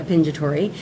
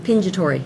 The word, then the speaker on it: Pingitore: from Italy but I always gone by pinja Tori and now I've been going by because